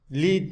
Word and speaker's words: lead: Şuradaki lead, kurşun. Lead diye okunursa leader, liderlik etmek şeklinde fiil var. Lead. Burada ise lead.